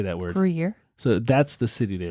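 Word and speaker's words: Gruyère: Gruyere? Gruyere. How do you say that word? Gruyere.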